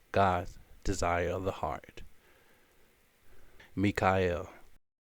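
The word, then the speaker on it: מיכאל: the name of the Archangel Michael in Hebrew pronounced Mikhail and it means who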